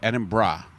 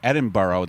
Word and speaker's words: Edinburgh: And I was coming back from Edinburgh, and that's how you say it, by the way, Edinburgh. Yeah. A lot of people say Edinburgh. That's what I used to say, and I got scolded by the Scottish people.